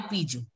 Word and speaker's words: pigeon: So it like peach, I is pronounced, you know, it has to be pronounced as peach. And on to as so it will be piju. Piju.